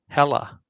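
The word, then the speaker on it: Hela: hilo or was it ultron the second one's hella oh is that how you say it yeah hella okay then it's probably not that one oh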